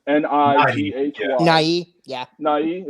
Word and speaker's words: Nighy: Nighy? Is it Nighy? Yeah, it's Nighy. Yeah, the Y is actually being used. Okay, sorry.